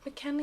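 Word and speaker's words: McElhenney: So Rob McKinley, is how you say it, gain loads of weight for season 10 or something?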